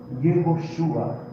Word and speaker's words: Yehoshua: A pronúncia disso daqui é Yehoshua.